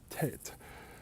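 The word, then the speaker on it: Teyte: England to te y2e so that the French would pronounce it Tate the way I think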